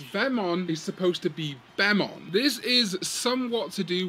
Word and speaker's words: Bemon: They are very similar phonemes to Japanese speakers, but it is supposed to be Bemon, spelt with a capital B-E-M, because B-E-M is short for Bug-Eyed Monsters, a name used for aliens, largely in conspiracy circles, although maybe not conspiracy anymore.